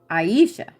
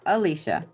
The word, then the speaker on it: Aisha: This next one is Aisha. Not Alicia, but Aisha.